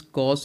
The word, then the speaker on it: cos: C, this C cos, actually it is cosine, we will pronounce it as cos A.